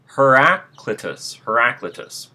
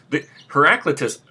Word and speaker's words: Heraclitus: and I'm not sure if I'm going to pronounce his name correctly. It's Heraclitus.